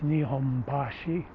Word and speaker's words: Nihonbashi: the nihonbashi is that in osaka you say kansai you say nipponbashi where it's in tokyo it's nihombashi same same sounding and